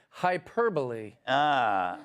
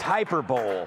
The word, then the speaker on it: hyperbole: You know what I don't understand is earlier Emily said hyperbole. What does that mean? Well, it's pronounced hyperbole.